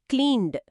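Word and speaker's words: cleaned: క్లీన్ అనే పదం ఎన్ శబ్దంతో ముగుస్తుంది, ఇది వాయిస్డ్, కాబట్టి క్లీన్డ్.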